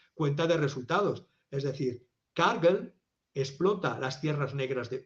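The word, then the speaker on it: Cargill: dicho antes que se escribe cargil y se pronuncia cargel de Minnesota es scargel mcmillen eh opera en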